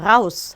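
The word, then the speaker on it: raus: 라우스 하면은 밖으로 라는 뜻이에요. 누군가를 무서운 눈빛으로 쳐다보면서 라우스라고 하면 너 나가 이 뜻이 돼요.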